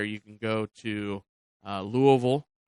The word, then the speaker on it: Louisville: can go to uh Louisville that's what they that's what the locals say it uh University or you